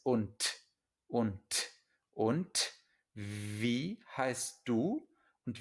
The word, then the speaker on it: und: Esto lo vamos a ver muchas veces, pero una D al final de una palabra o de una sílaba en alemán se pronuncia como una T, ¿vale? Entonces no es und, es und.